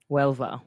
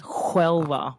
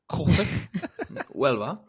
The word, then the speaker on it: Huelva: Huelva. That's what I said. No, you said You Huelva. said Huelva with a H. You don't say There's no H. Whip. Huelva.